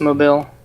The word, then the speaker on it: Mobile: Yeah, It's pronounced mobile.